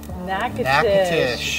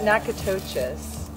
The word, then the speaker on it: Natchitoches: Hey from Natchitoches. Or is it Natchitoches? Natchitoches, Louisiana. It's definitely not pronounced the way it looks.